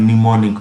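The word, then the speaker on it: mnemonic: mist फिर है निमोनिक य एम साइलेंट है इसे हम निमोनिक पढ़ेंगे सिस्टम हेल्पिंग इन रिमेंबरिंग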